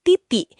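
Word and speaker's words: 弟弟: Contohnya huruf D itu dibacanya T. Jadi, kata di I di I berubah pelafalannya jadi titik yang artinya adik laki-laki.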